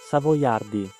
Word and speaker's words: Savoiardi: I'm going to show you the actual dot cookie and the right pronunciation. Savoyardi.